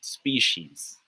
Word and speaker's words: species: guy it's pronounced as species species say with me it's pronounced as species not species okay all right good